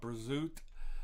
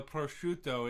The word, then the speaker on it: prosciutto: were a kid uh some people call it brazoot which uh it you look at the name and you go what but uh prosciutto it is a uh cured italian